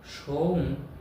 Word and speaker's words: সৌম: সৌম সময় সোহা ওম সৌম দন্তস ও অনেক সৌম কিন্তু উচ্চারণটা হবে সৌম ওম সৌম সোমাই সুহা